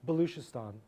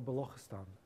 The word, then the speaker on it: Balochistan: So we did this for Pakistan, and in particular, we studied the case of Baluchistan or Balochistan, depending on how you pronounce it.